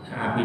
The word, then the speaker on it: Abi: Nah di sini harus Abi, kalau dibaca Abu salah menurut bahasa Arab. Karena kata Abu itu jatuh setelah li itu huruf jar, itu teori pondok ya.